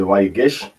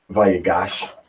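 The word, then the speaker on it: ויגש: So here for the Torah portion, what is it, Vayigish? All right, Vayigish. All right, or Vayigash. All right, as we would say it, Vayigash in the archaic pronunciation.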